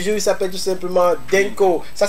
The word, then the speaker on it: Dhinko: Lui c'est l'artiste du jour, il s'appelle tout simplement Denko. Ça s'écrit D-H-I-N-K-O.